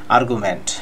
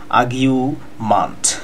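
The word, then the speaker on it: argument: আমরা অনেকেই বলে থাকি আর্গুমেন্ট। ভিউয়ার্স, আর্গুমেন্ট কথাটা না বললেই ভালো, কারণ আমেরিকানরা আর এর উচ্চারণ করে না, অনেক সময় ব্রিটিশরাও আর এর উচ্চারণ করে না। সেই ক্ষেত্রে আপনাকে উচ্চারণটা বলতে হবে আগিউ মান্ট, আগিউ, আর এর উচ্চারণটা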